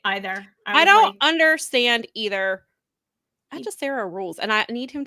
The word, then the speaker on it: Hechicero: He pronounces the H in there, and I can't tell